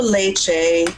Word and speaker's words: leite: It is also leche in Portuguese. It's pronounced leche, but it's Leite. So when you have a T and a vowel, that makes a ch sound.